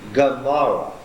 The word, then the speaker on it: Gomorrah: In that name, this is being pronounced hard as a what? Not as a glottal stop, but as a G. Gomorrah.